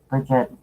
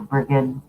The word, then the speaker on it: Brigid: I work a lot with Caradwin and Carnunos and Bridget or Brigid, depending on how you want to pronounce it.